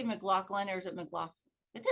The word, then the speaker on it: McLaughlin: But we've had the pleasure of meeting Pat McLaughlin, and as you know, did I say McLaughlin or is it McLaughlin?